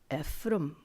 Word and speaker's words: Ephraim: He would have pronounced it Ephraim.